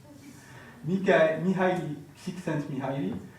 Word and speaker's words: Mihaly Csikszentmihalyi: Et ça, ce n'est pas qu'une parole en l'air, c'est les travaux de Mihaly Csikszentmihalyi. Est-ce que je prononce bien? Oui. Ok, nickel. Mihaly Csikszentmihalyi a tout simplement démontré que les gens qui